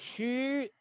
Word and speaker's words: Xu: you deep in here that xu i pronounce hu just now emission special